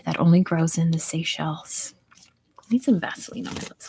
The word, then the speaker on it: Seychelles: knows what it's called seychelles not seashells yes seychelles the the island nation